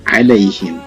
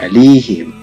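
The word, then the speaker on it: عَلَيْهِمْ: Dan dalam kalimat alai ya mati sebelumnya barisnya fathah, maka jadi alaihim, tidak alihim.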